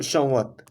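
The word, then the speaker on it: संवत्: छोड़ देते हैं, तो संवत, संवत हो जाएगा। म का प्रोनाउंसिएशन नहीं किया जाता है, बल्कि बस उसको अ, अंग के हिसाब से सम्मिलित रूप में ले लेते हैं, संवत।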